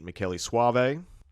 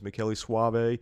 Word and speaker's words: Michele Soavi: void podcast it was directed by the great Meli Suave who who Jim has assured me uh he